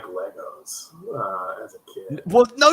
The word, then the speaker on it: Lego: It's not Legos. It's freaking Lego. Lego bricks is the plural, but Americans say, "Hey, man, I love my Legos," and you're like, "No, it's."